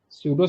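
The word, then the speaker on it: pseudo: है ये ठीक है सूडो सेटेलाइट की बात करेंगे ना सूडो है ना तो य पी से सूडो होता है ए साइलेंट है ठीक है पी साइलेंट है और ऊर्जा से चलने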